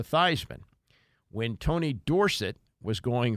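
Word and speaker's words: Theismann: for the Heisman Trophy he changed the pronunciation of his name from thean to Theisman when Tony Dorset was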